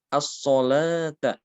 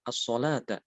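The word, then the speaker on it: الصلاة: Di sini misalnya ya, as-solata. As-solata, di sini tulisannya adalah wawu ya. Kenapa kok tidak ditulis alif?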